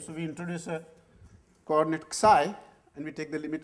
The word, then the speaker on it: psi: This is pronounced as psi, no, yeah, psi.